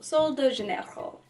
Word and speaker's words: Sol de Janeiro: say it's super white or like try and pronounce it correctly so so so the so de Chanel Sol Sol de Janeiro fast absorbing body cream it's the bumbum cream